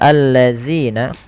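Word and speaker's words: الَّذِينَ: Dan hati-hati teman-teman di dalam melafalkan zal jangan sampai diganti dengan huruf zai. Sebagaimana bacaan yang seperti ini. Innalladzina ketika kita membaca seperti itu, dia merubah huruf dan merubah bacaan. Hati-hati agar sempurna dalam pelafalan zal ujung lidah tempelkan dengan gigi seri atas.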